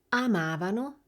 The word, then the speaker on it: amavano: Avete sentito la differenza di posizione nell'accento tra il noi e il loro? Rivediamola insieme. Noi amavamo, avevamo, ci divertivamo e loro amavano, avevano e si divertivano.